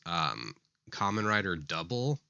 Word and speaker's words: Kamen Rider W: there is one series, Kamen Rider Double, but the double is spelled just W.